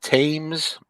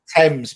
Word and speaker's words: Thames: Do you pronounce that Thames? The Thames and Hudson Mine Game? Thames probably. That Thames, Thames. as in the River Thames.